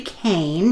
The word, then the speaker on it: Kean: talking about surviving death by leslie kane that's how it's pronounced and i apologize to